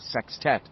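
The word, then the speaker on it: sextet: Club would become a sex tet. a word Richie liked a lot, always with the emphasis on the first syllable.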